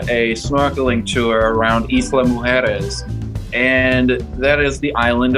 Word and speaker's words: mujeres: He's Mujeri. Mujeri's. Mujeri. Okay, what is the actual pronunciation for Mujeri's? Mujeres. Mujeres. That's What does that mean, Dean?